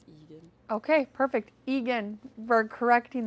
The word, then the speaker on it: Aegon: It's Egan, by the way. Is it Egan? Mm-hmm. I don't remember. I wasn't listening. Because I was pronouncing it like that too, and then in the audiobook he says Egan.